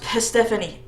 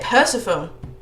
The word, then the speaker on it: Persephone: Yeah, speaking of that, why is it that this is pronounced Persephone? I would say Persephone. If I just looked at it like Persephone.